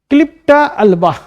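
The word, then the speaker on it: Eclipta alba: तो भृंगराज इसका botanical name है ये क्या, क्लिप्टा अल्बा, ई साइलेंट है।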